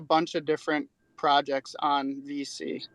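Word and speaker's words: VeSea: chain um apes um it's called v c dot io and that's spelled out like v-e-s-e-a it's like a play on open c so v-e-s-e-a dot io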